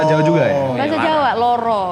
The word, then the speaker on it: Loro: Bahasa Jawa, Loro kan Loro. sebenarnya, tapi bacanya Lara. Gitu.